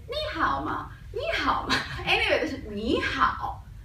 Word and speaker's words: 你好: 你好. 你好. Okay, the spelling help you pronounce 你好. Then you can notice here have the tone.